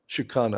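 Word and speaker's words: Síochána: And I can't pronounce the second word. Garda. Shikana.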